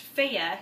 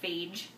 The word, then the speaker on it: Fage: Greek yogurt especially by this brand which is pronounced fea even though it looks like phage it's not phage it doesn't really taste like